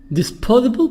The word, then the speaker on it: disposable: over again repeatedly over and over again repeatedly disposable products disposable is here the sound or pronounced as the an intel is henna they